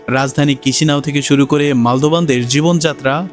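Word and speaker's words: Chișinău: ইংরেজিতে স্পেলিং চিচিনাও হলেও স্থানীয় ভাষায় এর সঠিক উচ্চারণ হলো কিসি নাও।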